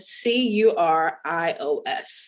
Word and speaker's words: Curios: so curios is spelled c-u-r-i-o-s so you hear curios you think of curious and so you want